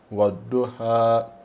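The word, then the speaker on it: والضحى: fa diventare ha, quindi lo prolunghiamo un po', mezzo secondo, due harakat, ha, wadduha, Wadoha.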